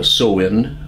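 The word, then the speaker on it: Samhain: November saw old traditions old Celtic Traditions like so in uh pronounced pronounced silence spelled Sam Hayne and the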